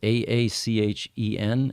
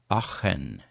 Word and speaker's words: Aachen: And that's Aachen, and most English-speaking people can't pronounce that properly. It's Aachen. It's sort of a guttural sound, you know?